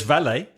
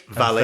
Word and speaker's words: valet: There's valet. Okay, valet.